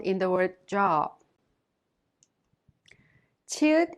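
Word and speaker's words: 치읓: Chiut is an aspirated sound with the burst of air, and it has the CH sound like in the English word chapel. Iung is silent when used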